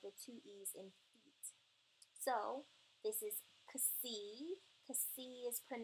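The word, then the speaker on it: φῖ: the two E's in feet. So this is kasi. Kasi is pronounced like the X in box or boxes, right? And it's kasi. P, not pie, but P. Fee, not phi, but fee.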